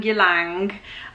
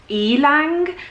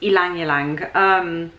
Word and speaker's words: Ylang Ylang: not e like yelling yalong and it's actually pronounced elong so like basically think of it as an e not a Y so it's Alang Alang now that we've got